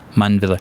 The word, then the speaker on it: Mundwiller: You pronounce the W as a V? Yeah. Mundwiller.